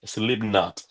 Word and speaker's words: Slipknot: Y entonces ah slno y entonces tienes no no es slimno, es sleep not.